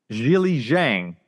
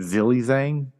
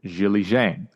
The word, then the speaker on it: Zhilei Zhang: same matchup same result Jil Jang I think I'm pronouncing it right I think last time I think I I said zil Zang if think it's Jil Jang Jang it'ss the third round